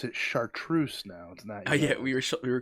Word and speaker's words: chartreuse: but uh so the variation um they they pronounce it chartreuse now tonight yeah we were calling it charcuterie i was like i know what that is